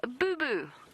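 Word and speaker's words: Boubou: go perfect thank you a southern boo boo which sounds like something you get when you're a kid when you graze your knee or your elbow it is spelled b u b u a southern Boo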